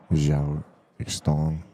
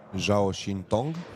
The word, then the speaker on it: Zhao Xintong: And he's up against a really strong Chinese player, Zhao Xtong, I believe is how you pronounce it, I'm not sure. Zhao Xintong would be.